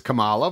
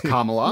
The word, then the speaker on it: Kamala: first came on the scene cuz everyone says Kamala which is wrong it's carala no it's carala and and when she first